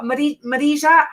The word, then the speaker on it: Marija: Oh, Marija, good to have you on. I spend half my time trying to pronounce her name, but she says that I do pronounce it right.